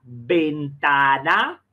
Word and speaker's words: ventana: Una puerta vieja es peor que una ventana. Olha aí, ó. Ventana. Olha o esforço para não nasalizar a letra E nem a letra A.